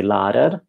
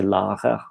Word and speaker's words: lærer: So in Oslo and so on, they say lærer, and in the Southwest they say lærer.